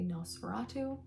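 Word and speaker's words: NOS4A2: plate on the front some people might say n o S4 A2 but I say no spatu so that's how I'm going to pronounce that book I have read this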